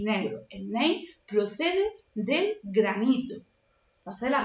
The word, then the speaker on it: Gneiss: Gneiss, la G no se pronuncia.